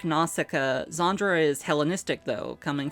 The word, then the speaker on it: Nausicaä: a couple of reasons one it's two syllables NASA which is supposed to be pronounced something more like naay in any case is syllabically slurred as in